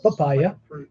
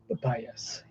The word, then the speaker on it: Papias: Not papaya, Papias.